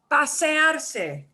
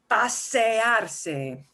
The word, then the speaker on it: pasearse: It's also expressed as, oh, here it comes, pasearse. Take a walk. Pasea, not pasar, because that would be too simple. Pasearse. Pasearse. I'm breaking it up into syllables there.